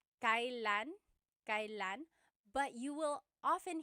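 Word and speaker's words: kailan: It's pronounced kylan. Kylan, but you will often hear it pronounced kalan kalanasal kalanasal.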